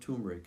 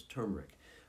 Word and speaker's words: turmeric: pronunciation of the word that first R is not silent it's not turmeric it's turmeric but so many turmeric